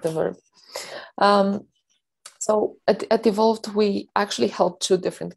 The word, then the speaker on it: evolvT: because uh you know i can be guilty of saying evolve t or but it's clearly evolved right yeah exactly it's like the participial murder faults like the verb um so at evolved we actually held two